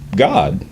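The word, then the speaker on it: גד: So you would get a pronunciation of what we call Gad today would actually have been pronounced God, because it would have been ah. It wouldn't have been ah, like we have in modern English.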